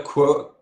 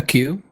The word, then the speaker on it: queue: was added to a quirk. How do you pronounce quirk? A queue? Yes, Queue.